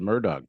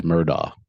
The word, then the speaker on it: Murdaugh: I thought maybe the TV had the Murdoch trial on. I thought you'd be watching that all day. Alex Murdaugh. Not Murdoch.